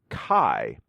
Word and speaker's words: Kai: The new blade that I am trying is a Kai, and K-A-I. See, I pronounced it correctly today.